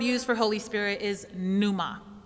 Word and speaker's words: pneuma: In the New Testament, the Greek word used for Holy Spirit is pneuma.